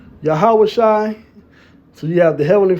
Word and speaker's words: Yahawashi: The final I gives the I am ending. Not a silent ah but a lifted throaty vow that can indeed come across like I in sound. So there you go Yahawashi.